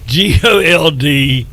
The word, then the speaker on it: Goldsboro: do you spell it g-o-l-d-s-b-r-o you take it takes the take the o out gold's bro goals bro like you